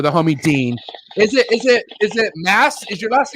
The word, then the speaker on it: Masse: It's actually Dean Moss, but everybody says Masse. Masse's sick too, but I like Moss.